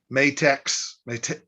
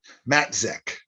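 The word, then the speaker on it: Matzek: fantastic mentor jackson uh matex let me pronounce this right matt zech tyler matic who was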